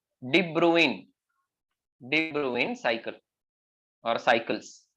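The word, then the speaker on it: de Bruijn: yeah so that is why the name is pronounced as de Bruin so debruing Cycles these kind of Cycles okay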